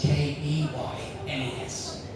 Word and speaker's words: Keynes: I know it's spelled Keynes, K-E-Y-N-E-S. But in the village, we prefer to pronounce it Keynes.